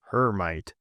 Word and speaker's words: Hermite: wave functions using well this fellow was French but in America I'm sad to say that we pronounce his name Hermite.